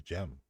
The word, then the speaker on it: Cem: I thought it was Cem Adrian. You know, C-E-M, Cem. Soon found out it was Gem. They pronounce their C's as G's over there like that.